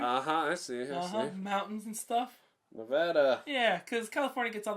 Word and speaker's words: Nevada: Some old school settler shit like Nevada, or Nevada, as people would say it. Some Espanol stuff going in there. I see. Mountains and stuff. Nevada.